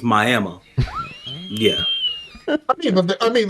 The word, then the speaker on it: Miami: at, and it's called Miami, even though it's spelled like Miami. It's Miami.